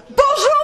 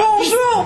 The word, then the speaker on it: bonjour: Bonjour Paris! He says it like an Italian. He says bonjour. It's like, no, it's bonjour. That's close enough, man. No. With an English accent. An English accent. Bonjour Paris!